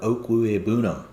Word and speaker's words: Okwuegbunam: Albert Okwuegbunam. Kings stay kings. You guys can go straight to Albert O's Twitter account, to get the correct pronunciation. He has it spelled out, and it's Oak with an O-A-K.